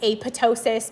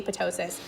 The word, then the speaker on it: apoptosis: Technically I think it's supposed to be aptosis because the PT is like in pterodactyl. It's silent supposed to be aptosis.